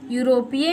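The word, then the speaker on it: European: बच्चों एक बात और, यूरोपीय में ई जो होता है वो साइलेंट होता है, ठीक है, इसीलिए हम इसे यू से पढ़ते हैं।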